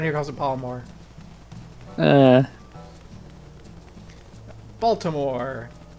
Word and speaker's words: Baltimore: calls it bore uh Baltimore one syllable Balmer this a secret to speaking the local accent everything is one syllable my my my friend's